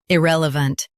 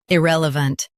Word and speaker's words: irrelevant: Today we will learn how to pronounce the word shown on the screen. Irrelevant. Both US and UK have the same pronunciation of this word. Irrelevant.